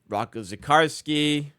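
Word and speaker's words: Rocco Zikarsky: Um, Rockco Zakarsski, that's how you say it.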